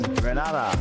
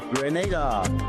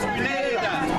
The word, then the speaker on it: Grenada: So, today, like we Germans say, we are in Grenada. But I heard in English it's called Grenada. Say it right. Grenada. Say it right. Grenada. That's right. Grenada. There we go. Say it right. It's Grenada. It's not Grenada.